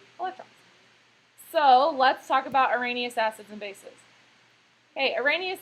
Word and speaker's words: Arrhenius: How do you say it? Arrhenius. When you read it, you go, but it's Arrhenius. Arrhenius.